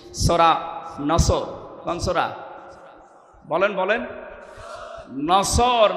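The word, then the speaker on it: نصر: মানে ইগল পাখি এজন্য যারা এই সূরাটা পড়তে গিয়ে সওয়াদ না বলে সিন দিয়ে উচ্চারণ করেন আপনার কিন্তু নামাজ হবে না কারণ নামাজ ভাঙ্গার কারণ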